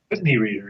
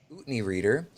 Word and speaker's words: Utne Reader: His work has appeared in Parabola, Lion's Roar, Tricycle, Utne Reader, is that how you pronounce it? Whitney reader, yeah. Utne Reader, Buddha Dharma Magazine, Light of Consciousness, and many other periodicals.